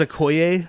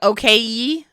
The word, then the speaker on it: Okoye: is Okoye. yeah, dude, exactly. Also, how did nobody mispronounce his name? Okoye? Why didn't it be like okay?